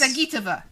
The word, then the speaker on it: Zagitova: Zagitova. Zagitova. That's it. Alina Zagitova edged out Venya Mendeva. No, it's not pronounced that way.